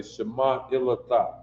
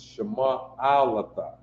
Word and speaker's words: Shema Alata: I know when you hear people, different people do the greeting to the sisters, they say Shema Ilata. No, that is improper. It's Shema Alata. I is that second vowel sound.